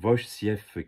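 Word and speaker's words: Wojciech: Bon, faut prononcer Wovciech Kilar. En fait, le JC, c'est comme un F.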